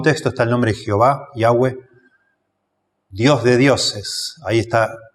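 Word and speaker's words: Yahweh: es traducción del tetragramaton sin las vocales yahwe sería la pronunciación como el nombre se escribió inicialmente sin vocales su pronunciación es incierta hay muchísimos este ensayos discusiones sobre esto Bueno lo que yo he llegado a entender es que la mejor pronunciación en el hebreo sería yahwe la Reina Valera lo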